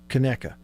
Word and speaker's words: Conecuh: Is that how you pronounce it? Yes, Conecuh.